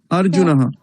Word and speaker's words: अर्जुनः: গেল তো বাংলায় নয় যেহেতু এখানে একটা বিসর্গ রয়েছে এই কারণে উচ্চারণটা হবে अर्जुनः पाण्डुराजस्य पुत्रः अर्जुनः पुनः